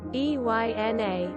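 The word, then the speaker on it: Eina: Eine pronounced, Eyna, it's Afrikaans.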